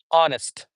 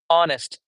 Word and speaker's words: honest: then we have the honest honest where H is silent.